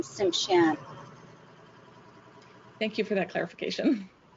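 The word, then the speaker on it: Tsimshian: It's nice to be here with all of you, and you pronounce my nation Simshan.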